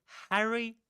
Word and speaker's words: Harry: Harry Potter. Right. The first syllable in the first vowel sound in Harry is the same as in hat. Right. hat or cat.